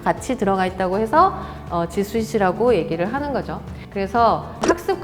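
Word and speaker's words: G Suite: 자, 그래서 호텔의 스위트룸, 스위트 발음이 그래서 지스윗이라고 합니다.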